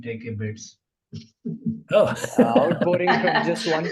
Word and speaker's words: TCAbit: the name yeah yeah I love the name take a bit it's like take a bit yes yes yes it took me some to